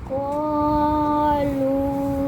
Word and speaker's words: قالوا: بسم الله الرحمن الرحيم قالوا इसमें ये जो अलिफ है ना ये साइलेंट है ये वाला ठीक है बला